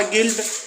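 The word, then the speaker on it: guilt: पर you silent है तीसरा गिल्ड तो यहां पर जी यू आई एल टी U silent है चौथा है गाइड तो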